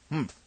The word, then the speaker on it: humph: "Humph," said the sand fairy. If you are reading this story aloud, please pronounce humph exactly as it is spelt, for that is how he said it.